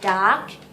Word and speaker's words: duck: Duck. เน้นตัว K เยอะๆนะคะ Duck.